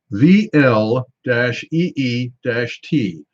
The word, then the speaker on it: Vliet: on this one and they say it is pronounced VL - EEE - T so I'm assuming it's with it with it